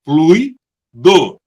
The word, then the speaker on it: fluido: Fluido é uma palavra de sílaba, fluido, com a sílaba tônica em flui, que pode ser usada como substantivo ou adjetivo.